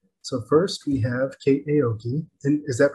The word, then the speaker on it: Aoki: So first we have Kate Aoki. Is that pronounced correctly?